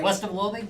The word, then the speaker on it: West of Loathing: Western of Loa did I say it right west of loathing yep west of Lo um is just it's